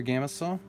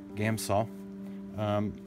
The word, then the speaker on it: Gamsol: If you have a jar to do your Gamsol, it's not Gamsol. I put an extra syllable in there. Gamsol.